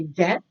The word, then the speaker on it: debt: next one original receipt it's kind of like debt where B is silent and you just say debt so here it's receipt